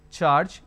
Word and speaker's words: charge: charge now pay attention the letter J is missing here for for this particular word and for this particular word so you need to be very very sure how to pronounce it and the best way to learn is either from dictionary or from Google so George oint budget charge even though the letter is missing but this sound is existing here then we